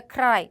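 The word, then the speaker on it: ใคร: 크라이 누구란 뜻이 되는데 요거를 우리가 빨리 만다. 그러면 카이라고 발음하게도 된다. 그래서 우리는 다 잘 지켜서 말을 해주실 거지만 왜냐 우리는 지금 현지인이 아니기 때문에 우리는 최대한 정확하게 말하는 게 중요하거든요. 근데 태국인들은 이런 식으로 이 리을 소리가 생략돼서 소리를 하실 수도 있다.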